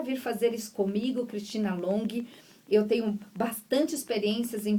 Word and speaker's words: Longhi: O Long, gente, se escreve L-O-N-G-H-I.